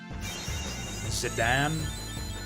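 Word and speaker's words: Zidane: uh we need healing zidan I hear that's actually proper I believe that's how it's meant to be pronounced but I think that's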